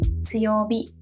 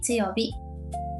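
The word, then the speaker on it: 強火: Chữ “hi” biến thành “bi” luôn nhỉ. Chính xác. Đúng chỗ đó dễ vấp lắm. Đọc là “yowabi”, “chuubi”, “tsuyobi”.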